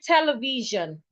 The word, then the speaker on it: television: So if I want to say this word, I would have to go television. Television.